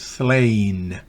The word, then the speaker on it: slain: La vocal, fonéticamente hablando, con la rayita encima, se pronuncia como su original en inglés. Entonces es slain.